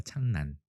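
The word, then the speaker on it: 착란: 그래서 실제로 우리말 발음은 창난입니다. 창난.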